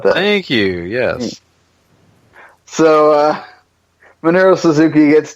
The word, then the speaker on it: Minoru: We got 2 points moving over there to Marunu, or I can't even say his name. Minoru.